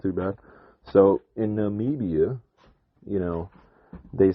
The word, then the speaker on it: Namibia: right well it's not too bad so in Namibia you know they said that this this company